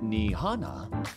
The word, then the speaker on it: Nihana: Hey, Doc, would you mind telling my beautiful girlfriend, Nihana, pronounced Nihana, Maldonado, to wake up!